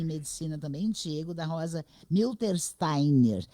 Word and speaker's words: Miltersteiner: obra Doutor em medicina também Diego da Rosa milter Steiner é assim mesmo que se pronuncia seu sobrenome porque eu fico muito fechada